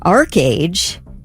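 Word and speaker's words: ArcheAge: massive multiplayer role-playing game Arch age it's called archage that's what I I I had to look up the pron pronunciation they said archage okay yeah and uh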